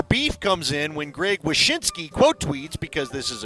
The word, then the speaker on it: Wyshynski: Greg Wisniewski. Oh, Wyshynski.